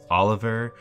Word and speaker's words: Oliver: dork uh it's pronounced Oliver it's not that hard it's like the food olive you just kind of add an R to the end of it what what anyway what